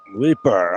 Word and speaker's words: Leaper: Leaper.